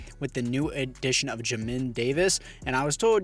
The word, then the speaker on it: Jamin: the new edition of jamin davis and i was told you're pronouncing you're supposed to pronounce it j and then min and then it's davis